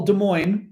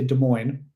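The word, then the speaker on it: Des Moines: you know de well De Moine De Moine isn't too far we don't say Des Des mois you know we say De Moine so you don't pronounce the S which is correct um anyway versil ver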